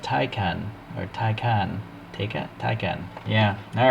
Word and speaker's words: Taycan: So as we all wait patiently for MiniGT to put out their version of the Porsche Taycan, I found this at the local shop, the good old toy store, and here we have the Taycan Turbo S.